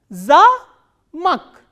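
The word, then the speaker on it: за́мок: The same way, here I have written 2 words, za, a, ma, o, ka, but this a is stressed and o is unstressed. So, how will we pronounce this word? Za-mak, za-mak, zamak.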